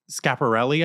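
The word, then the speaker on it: Schiaparelli: to butcher the name I think it's called scap or shop okay it's scaparelli I think the designer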